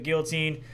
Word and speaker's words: guillotine: Well, that's like Did you pronounce the L's in that? What, Giannetti? No, guillotine. Guillotine? Isn't it guillotine? Guillotine? Guillotine? it doesn't matter. There's no L's.